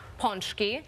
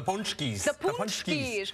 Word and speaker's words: pączki: more than one ponki a lot of you guys in Chicago eat them but you say them wrong how do you say it they always say we're going out for the ponchies but that's more than one so what's the singular